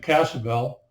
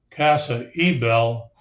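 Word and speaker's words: Casa Ybel: Is Still Point Bell the Y was not used it was silent is uh the same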